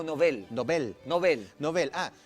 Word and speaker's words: Nobel: Hay una regla que tiene el castellano con respecto a los apellidos que son de otras lenguas. y es que hay que mantener la pronunciación del lugar de origen. Y él era Alfred Nobel. Entonces el premio es premio Nobel. Entonces eso significa que es una palabra aguda, que el acento lo lleva en la E.